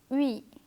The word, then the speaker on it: oui: In this letter combination, both the letters are pronounced separately but without a pause. This makes it seem like one single sound. Oui, oui.